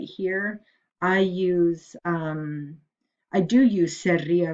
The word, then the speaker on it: sería: You can't use seria, S-E-R-I-A, accent on the I.